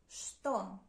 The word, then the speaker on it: что: What in Russian is что? Что? Pay attention that you spell it with ч, ч, and you pronounce and read it with ш, ш.